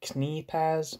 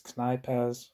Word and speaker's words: Knei: person's name wrong before I think I was saying knaz but it's Kai um uh the last